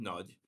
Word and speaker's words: Nagy: So, Nagy is a Hungarian word, nudge. Don't try and pronounce it as Americans because everybody just says like nudge, and it's just like, you missed it by a lot.